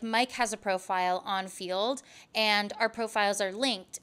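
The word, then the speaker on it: Feeld: exclusively right now, is Field. And that's spelled F-E-E-L-D, Field.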